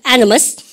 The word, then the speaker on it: animus: 발음가 animus. 그저 강세를 여러분들 엉뚱한 데 찍으면 절대 못 알아듣습니다.